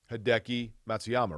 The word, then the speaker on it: Hideki Matsuyama: winner of the week and my nominee is hideki matsuyama right did i say that right yeah you